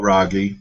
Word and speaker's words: Raghee: your bio, Raghee, and I believe Oh, I'm pronouncing your first name correctly.